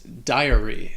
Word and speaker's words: diary: position next is diary so this word can be a little confusing because it is three syllables it's not two and the first syllable has that long i sound that dye followed by the schwa daiya and then the y at the end has a long e sound diary diary diary do